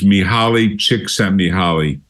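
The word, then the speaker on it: Mihaly Csikszentmihalyi: Chicago he's got a very difficult name to pronounce it's miali chick miali he's a I think he's a Hungarian uh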